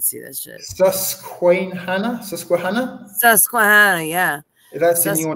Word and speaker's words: Susquehanna: Is that how would you pronounce that? Is that in Philadelphia? What? I can't see that shit. Susquehanna? Susquehanna? Susquehanna, yeah.